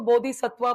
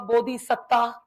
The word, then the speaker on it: bodhisattva: He was a bodhisattva, bodhisatta, Satta. Are you getting it? There are two pronunciations for that.